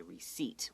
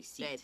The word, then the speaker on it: receipt: Okay, and don't forget that P is not pronounced.